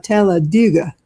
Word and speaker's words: Talladega: Now, when everybody's there, you can pronounce it exactly like you said, Talladega. But now the people who live there say Talladega. You know, like in the ditch. So that's how we say it down there.